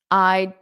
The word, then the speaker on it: I'd: I'd take up. So notice that D is almost not pronounced when you say it in spoken English.